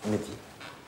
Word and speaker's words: Mehdi: Voilà, Mehdi. M-E-H-D. I.